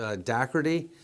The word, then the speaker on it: Dougherty: And if you see the name written anywhere, it looks like Dougherty. It It's looks spelled like, Dougherty, but yeah. it's Dougherty. but it's pronounced Dougherty.